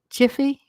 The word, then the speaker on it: GIPHY: Yeah, so I think they said you pronounce Giphy, Jiffy, Jiffy, Jiffy, Jiffy peanut butter, so Jiffies, which is like the little moving short pictures, it's like a couple seconds.